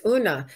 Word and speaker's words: Una: Well, I was just going to say that Kelly corrected my pronunciation and said it's Una because it's Celtic, which makes a lot more sense.